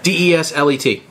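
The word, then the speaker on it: Désilets: Oh, French in your silent S. And I wasn't going to make you do the accent either, but there's an accent on the E.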